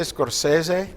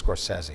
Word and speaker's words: Scorsese: is it of course how do you say it I would say Scorsese because that's Italian there you go around Italians but I believe he says Scorsese all right movie quote